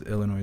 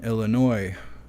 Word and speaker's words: Illinois: along with rapid-fire devices Illinois is the I I don't think you're supposed to pronounce the S but I'm from Michigan so I do what I want they are the ninth